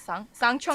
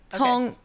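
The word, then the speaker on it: Cangqiong: out that is it Sangchong Mountain sect. So I looked up the pronunciation again. It's like Tongchong Mountain. It's like TS sound.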